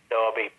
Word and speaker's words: Derby: a wonderful managership in Derby the main story darby pronounced Derby yeah yeah Brown Derby spell Derby yeah